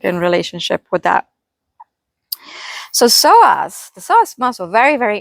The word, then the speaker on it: psoas: know if you guys are familiar with the soas muscle it's spelled PS o a and it's it's pronounced soas P silent I I wasn't until I was